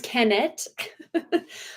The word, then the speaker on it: Kenneth: as you see here Kenneth sorus did I say Kevin again Kenneth sorus but it's kennet his name is kenet uh like the H is silent and I don't know